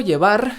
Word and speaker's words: llevar: Llevar con V pronunciada con B, porque en español el fonema V no existe.